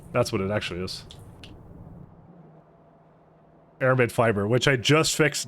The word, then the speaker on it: aramid: lead container stopped that's what it actually is aramid fiber which I just fixed now your your pronunciation of American name is getting better I mean what was I calling it before americam that's what it is it's it's the C